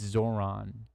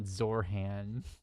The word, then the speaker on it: Zohran: Zorhan Mdani who basically it's Zoron. Zoron, not Zorhan. That's another thing Republicans will do, too, is they'll say it wrong.